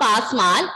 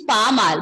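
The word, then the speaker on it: pas mal: It's not pasmal. Pronunciation is pamal, but the answer is not that.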